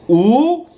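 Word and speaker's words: 五: five more minutes because in chinese five is pronounced ooh it's real fun to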